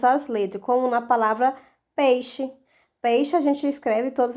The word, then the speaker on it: peixe: No dia a dia, você fala peixe ou peixe? Bom, normalmente nós falamos a segunda opção, né? Peixe. Muito difícil nós pronunciarmos o i.